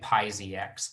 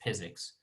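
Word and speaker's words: PyZX: all right so so some people say PI Z X button but according to us the developers it's pronounced physics which is like if you say physics but then you don't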